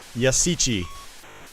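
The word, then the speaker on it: Yashichi: got that little ship over there there's the yusichi five thousand points i finally learned how to pronounce that in uh after doing my gunsmoke let's play yasichi oh god damn it all right so you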